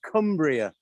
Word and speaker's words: Cumbria: good afternoon good afternoon it is pronounced cumbria cumbria okay okay boasted boston